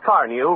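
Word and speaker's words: Carnu: For the sake of your car and for your own pleasure, buy a can of Johnson's Car New right away. It's spelled C-A-R-N-U.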